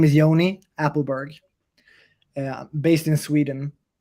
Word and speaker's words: Ioni: fine most people are so my name is Yoni appleberg uh based in Sweden and we met